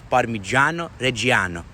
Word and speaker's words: Parmigiano Reggiano: to pronounce that nick the correct way to pronounce that is parmigiano reggiano and then on top